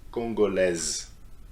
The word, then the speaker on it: congolaise: Congolais, congolaise.